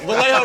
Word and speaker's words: Vallejo: Vallejo rhymes with say how.